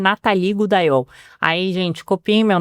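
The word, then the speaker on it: Natale: E Natalie é um nome francês que a grafia N a t a l e. E aí meu pai quis que fosse exatamente como se escreve, só que ninguém sabe falar meu nome. Todo mundo me chama de Natiele, de Natalie, de Natalie, mas ninguém me chama de Natal.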